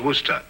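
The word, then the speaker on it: Worcester: where sister oh yes I see as Lord Worster mhm his M be fit to be hog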